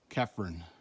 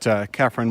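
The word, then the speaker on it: Chephren: Cirque and Kefren, spelled with a CH.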